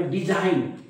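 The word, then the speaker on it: design: काय असतो सायलेंट असतो म्हणून या शब्दाचा उच्चार आहे डिझाईन डी झा डी झान म्हणजे या जी चा काही रूल नाही साईन साईन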